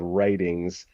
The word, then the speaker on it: Wrighting: Constructs being so if sufficiently so the magic tools in this world are called writings, and that very unfortunately for my early writing self is spelled Wrighting. Writings. Works great in it Whitings. works great reading, not so great in audio.